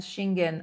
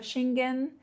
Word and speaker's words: Schengen: The EU and Shingen are very strict.